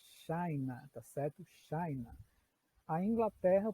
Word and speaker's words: China: China em português, mas em inglês a pronúncia muda, vira China, tá certo?